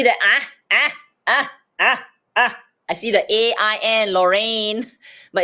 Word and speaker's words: Lorraine: It is, but in this word, it's actually LOR is, well, LO is the one syllable, RAI is one syllable, and NE is the last syllable. Oh, Lorraine, ne.